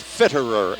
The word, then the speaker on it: Fitterer: Of course, his name is not Fritter, it's Fitterer, Fitterer.